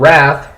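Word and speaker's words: Wrvth: wrath by wrath yeah they're called wrath but their name is spelled w-r-v-t-h um of course I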